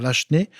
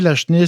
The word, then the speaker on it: Lachenaie: Il y a un projet d'un nouveau circuit patrimonial relié à Lachenay par la PHT et la ville de Terrebonne, parce que Lachenay est rattaché à la ville de Terrebonne.